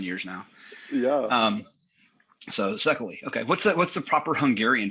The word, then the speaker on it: Szekely: So Szekely. Okay, what's the proper Hungarian pronunciation? The Hungarian pronunciation is CK. Okay. It's like letter C, letter K.